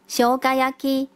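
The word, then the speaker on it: 生姜焼き: 姜汁烧肉的日文是念作 shogayaki， shogayaki。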